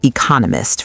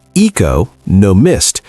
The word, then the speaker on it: economist: Listen closely. The stress is on the second syllable. Economist. If you say eco no missed, people will have to work harder to understand you.